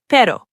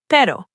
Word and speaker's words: pero: That flapping motion is close to the single Spanish R. Pero, pero, pero.